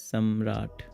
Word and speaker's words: Samrat: It's fine, but it's pronounced as Samrat. Oh, Samrat, like Prithviraj.